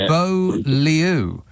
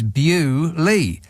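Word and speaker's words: Beaulieu: away and introduce completely different letters for the pronunciation of it it should be bo Leu but it's not it's bu Lee it's almost like that's right the the two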